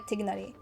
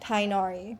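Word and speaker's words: Tighnari: I think it's meant to be more like uh I saw someone with like a video about how to pronounce it and they said it's more like tigari. But like in in Genjin, they purposely say like tinari, which is not correct, but they just make that choice.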